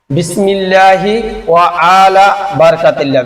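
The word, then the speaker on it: بسم الله وعلى بركة الله: বিসমিল্লাহি ওয়া আলা বারাকাতিল্লাহ।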